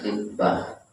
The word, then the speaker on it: khitbah: Jadi bacanya khitbah, ada khutbah, ada khitbah, beda.